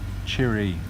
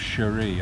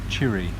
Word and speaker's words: Chiri: So going back to Chiri, she prefers, I think, it pronounced as if it's chili, but it's Chiri instead of Cherie. I keep calling her Cherie, but she pronounced it, and so do others, and I questioned it before, Chiri. It's almost like it's chili.